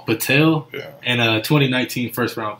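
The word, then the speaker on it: Poeltl: How do you pronounce that, Alfred? Patel.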